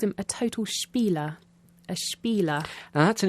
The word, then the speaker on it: spiel: a good one spiel it's not an english word is it the sh sound at the beginning with the spelling sp it's not really common in english words is it well like many